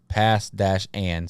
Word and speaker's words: Passan: And until Zach Lesnar, he put the pronunciation of Passan in the comments as pass-an.